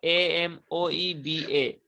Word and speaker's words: amoeba: organisms such as amoeba amoeba spelling is a-m-o-e-b-a it is written but you have to read it as amoeba what will you pronounce